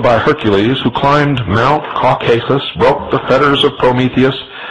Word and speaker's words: Caucasus: For his disobedience, Prometheus, like Lucifer, was chained and placed upon the brow of Mount Caucasus, or some pronounce it Caucasus, there to remain with